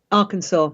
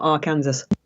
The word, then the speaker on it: Arkansas: Arkansas, not Arkansas. They should fucking spell it that way then. Where's the W?